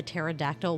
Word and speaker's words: pterodactyl: Why didn't you know that the pterodactyl was in the bathroom? Because the P is silent.